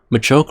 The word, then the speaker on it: Machoke: Machoke rhymes with artichoke, and it looks like one here.